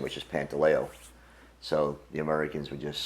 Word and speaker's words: Pantaleo: He was the original Pasta in our neighborhood for his heavy accent, and they couldn't pronounce our last name, which is Pantaleo.